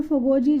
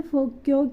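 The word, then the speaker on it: Foguoji: फोगो ऐसे पढ़ने में हमें फोगोजी जैसा लग रहा है ये, लेकिन इसको जो प्रोनाउंस किया जाता है फोक्यो की तरह प्रोनाउंस किया जाता है।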